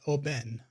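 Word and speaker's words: Oban: that a 14 year old scotch and it's pronounced Oben okay hello Catherine welcome to the screen and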